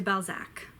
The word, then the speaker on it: Balzac: oh no FA do by Zach honoré de Balzac his massive like 50 book long series is